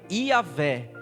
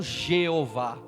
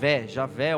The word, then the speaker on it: Iavé: Foi aportuguesada, vamos dizer assim, porque a expressão mais correta para nós tentarmos pronunciar seria Iavé, e não Jeová. Então, quando nós pensamos no nome sagrado de Deus, seria o Iavé, né? Ou Javé ou Iavé, porque nos traz aí essa transliteração, né?